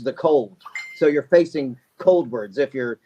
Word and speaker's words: Coldwards: have your new band cold words is how it's pronounced and to me it looks like cold words it's cold w a r DS I don't know how someone could pronounce that differently but when we started